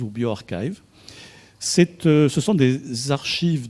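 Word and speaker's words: bioRxiv: spring harbor laboratory qui mise en oeuvre de prononcer bio archives ou bio arxiv c'est ce sont des archives d'articles en prépublication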